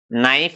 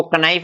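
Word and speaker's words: know: आपके सामने यहाँ उदाहरण पेश है, जैसे है क्या, नाइफ। तो हमने यहाँ इसको कनाइफ नहीं बोला, इसको कनी नहीं बोला, इसको कनो नहीं बोलेंगे, इनका सही उच्चारण हो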